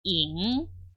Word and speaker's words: 影: 잉.